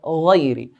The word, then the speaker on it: غير: We have the word غير. غين is from the heavy letter, so we pronounce it in a heavy way.